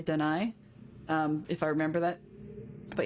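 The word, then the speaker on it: D'ni: So yeah, so if I pronounce it, sometimes I'll say Dunny just because it's an old habit. Other times I'll say Dunai, if I remember that.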